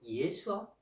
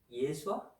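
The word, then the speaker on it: ישוע: 다 이게 같은 말이에요 지금도 히브리 사람들은 예수님을 예수아 예수아 이렇게 발음해요 그것과 마찬가지예요 자 어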